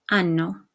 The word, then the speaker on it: hanno: Avere, o, hai, a, abbiamo, avete, hanno. Okay, notice that the H is silent, but we retain it so that you know that it's the conjugated form of avere.